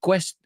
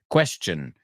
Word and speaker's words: question: be careful you said Quest you you pronounced question wrong right there was a weird pronunciation um again you got your point point across beautifully but quest Quest right K Wes Quest question can I ask you